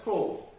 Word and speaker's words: through: হয়ে যাবে, এই বানানটা খেয়াল রাখতে হবে, এই উচ্চারণটা হবে থ্রো।